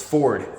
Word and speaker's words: Fjord: the color is called Fjord green I'm just kidding the J is silent it's Ford Ford green despite the name